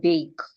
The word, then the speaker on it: bake: Like when we have the word bake, letter E is silent.